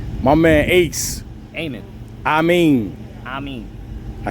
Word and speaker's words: Amin: Amin.